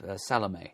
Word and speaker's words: Salome: Page 390, Peacock Russell's, is that pronounced Salome? I always forget. Salome.